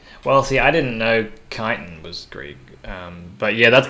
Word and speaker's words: chitin: If it's Greek, chances are you don't pronounce the H after a C. Well, see, I didn't know chitin was Greek.